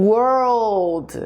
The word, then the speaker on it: world: menina menina gol a palavra para mundo o world então esse enrolada língua fica muito mais forte